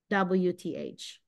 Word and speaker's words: growth: I want you to pronounce GROWTH. How do you? Okay, you need to say growth. Growth. Yeah, you need to make the O.